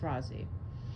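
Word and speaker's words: Rozzi: And R O ZZI is Rozie. I don't I don't care where you live and I don't care how you think it's pronounced. It's Rosie.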